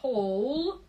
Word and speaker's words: whole: Whole. W не читается. The whole pie.